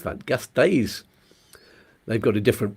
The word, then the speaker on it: Gasteiz: How do you pronounce that? Gasteiz. They've got a different pronunciation set of rules, haven't they, in Basque Country? I don't know how to say them. Yeah, I think Gasteiz.